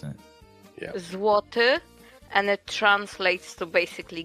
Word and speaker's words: złoty: Say one more how you pronounce it? Yeah. Złoty, and it translates to basically gold.